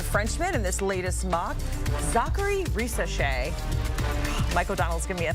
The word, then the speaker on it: Zaccharie Risacher: Zaccharie Risacher. Mike O'Donnell's giving me a thumbs up. I nailed that pronunciation there.